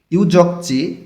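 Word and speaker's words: 유적지: ইউজকচি ঐতিহাসিক স্থান, গিয়ক বাচ্চিমের পরে জিউত আছে, জটা চ উচ্চারণ করতে হবে, এগুলো হিস্টোরিক্যাল প্লেস। ইউজকচি ঐতিহাসিক স্থান, পাশে আছে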